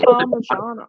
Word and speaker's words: parmigiana: It's an I. You get them to pronounce it. Parmigiana. It's a Parmigiana, not a Parmigiana.